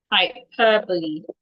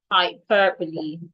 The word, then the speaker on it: hyperbole: And the last word, Hyperbole. Hyperbole. Hyperbole.